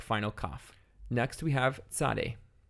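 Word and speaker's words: צדי: Next we have Tzade. Tzade is pronounced T-S, T, and again, it's a Kamnifatz letter.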